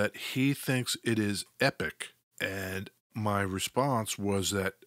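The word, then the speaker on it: Époque: War I in 1914 in the US and Canada most commonly pronounced epic listen to this yeah epic I stand corrected epic Belle epic this is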